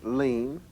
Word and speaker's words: lien: but so is this it's pronounced lean the same as lean on your elbow but its meaning is